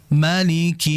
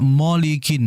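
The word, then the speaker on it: مَلِكِ: ayat berikutnya yang kedua, malikinas Yang terjadi kesalahan adalah jangan membaca molikin. Molikin mo bukan mo melainkan ma. Ingat setiap huruf tipis yang berharakat fathah maka vokalnya adalah a ma malikinas.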